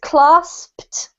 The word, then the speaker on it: clasped: you've got to say the P, and then the ED spelling in this case is pronounced as if it were a T. So the pronunciation is clasped.